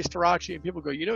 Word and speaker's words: Starace: Now, interestingly, when it was Starace or Starace, someone would take Italian and like, actually, it's pronounced Starace, which everyone got all excited about.